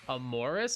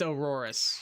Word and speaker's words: Aurorus: It's Aurorus is what you mean. A U R O R U S.